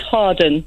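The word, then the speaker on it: Hawarden: It's pronounced Harden.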